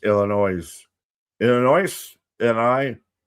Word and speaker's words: Illinois: Um I just cringe from how you pronounce Illinois.